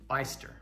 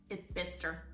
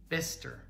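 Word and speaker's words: Bicester: okay this last one how do you say that beyster no mister mister that one's actually not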